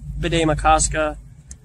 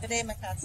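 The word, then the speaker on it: Bde Maka Ska: Bidet Makaska area. That's how it's pronounced. Yeah. Bidet? Bidet Makaska.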